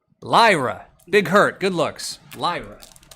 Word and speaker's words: Lyra: I don't think I LRA. All right, Lyra.